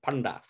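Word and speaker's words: paṇḍā: a pilgrimage guy yes it's spelled like panda but with little dots on the n d it becomes panda panda with the retroflex so he meets with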